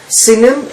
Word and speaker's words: Sinim: Okay, and so in Isaiah, in chapter 49, it talks about the land of, how do you pronounce Sinim. it? Sinim, and this is Isaiah chapter 49 verse 12.